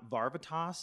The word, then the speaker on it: Varvatos: scent is my John Varvatos cologne I learned the other day that it could actually be pronounced John Barba toss so take that take